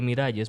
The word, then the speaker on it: Miralles: Se escribe Miralles, pero se pronuncia Miralles en catalán.